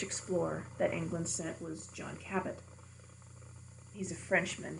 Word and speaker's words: John Cabot: that England sent was John Cabot he's a Frenchman his his name is really supposed to be pronounced Jean Cobell but England never wants